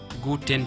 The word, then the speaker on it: Guten: Alors le son U en français, c'est tout simplement U.